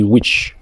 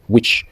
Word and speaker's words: witch: Quand on prononce aussi witch, comme un sorcier, witch, on ignore le thé.